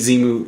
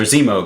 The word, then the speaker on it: Zemo: weren't going to hate zemu or Zemo excuse me I keep saying his name wrong Zemo earlier you know